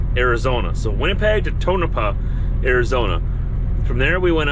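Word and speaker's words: Tonopah: Manitoba we went all the way down to tonapa that's how you pronounce it now that I've read all of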